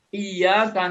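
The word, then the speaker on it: إِيَّاكَ: Tapi ketika dibacanya tanpa tasdid, iyyaka na'budu wa iyyaka nasta'in, berubah maknanya. Kami menyembah cahaya matahari, kami minta tolong pada cahaya matahari.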